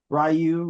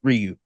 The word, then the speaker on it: Ryu: Rayu Ryu. Um, it's pronounced Ryu.